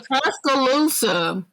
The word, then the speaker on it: Tuscaloosa: Tuscaloosa is how you say.